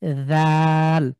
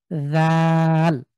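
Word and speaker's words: ذال: তো যদি নোক্তা না থাকে তাহলে দাল, আর নোক্তা থাকলে এটা হবে জাল, পাতলা করে সার মতন উচ্চারণ, জাল।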